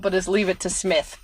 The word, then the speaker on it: Psmith: I can't help but is Leave It to Smith. P. Smith, like PSMITH. Yeah, that's a great one. The P is silent.